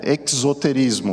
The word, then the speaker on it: exoterismo: Esse mesmo site mostrava uma diferenciação entre os termos de esoterismo e, para ficar uma pronúncia diferente, é exoterismo, um com X e outra com o S, né?